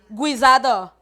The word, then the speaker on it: guisado: por que que guisada é escrito com s mas eu pronuncio com som de z porque está entre duas